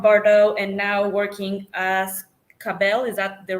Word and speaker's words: Ka'Bel: former member of bardo and now working as cabell is that the right way to say it